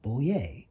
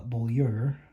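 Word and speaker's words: Bollier: pins for barbara boyer her pins show a bowl with the word yay on it because her name is pronounced bolier and it took me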